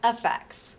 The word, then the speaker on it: AFX: In order to become the greatest, you may want to apply AFX, pronounced FX.